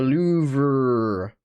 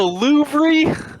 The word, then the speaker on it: Louvre: The Louvre. This is the Louvre. goddamn Louvre. Okay, let's see if The we can- Louvre. The last two letters aren't pronounced.